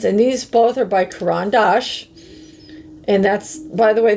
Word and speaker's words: Caran d'Ache: these both are by Caran D'ache. And that's, by the way, that's how you properly say it. A lot of people just don't seem to know how to say it right. It's Caran D'ache.